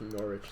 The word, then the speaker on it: Norwich: big city called norwich i'm guessing it's pronounced norwich they don't really like to pronounce the w's in the uk so now i know